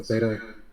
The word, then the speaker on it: Theta: And then one of my personal favorites is Theta. So Theta, like the brainwave, right?